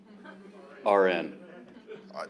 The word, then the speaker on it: Aron: Iran is like It's spelled like Aaron, but pronounced like registered nurse. RN.